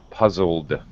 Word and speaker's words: puzzled: with the l puzzle so now our e d has a d sound but no extra vowel sound puzzled okay puzzled okay puzzled there is a d sound at the end puzzled yeah that's a